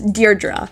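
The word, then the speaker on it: Deirdre: This name may look tricky to pronounce, but it's pronounced as Deardra.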